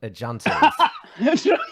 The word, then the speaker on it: junta: Junkers or juntas.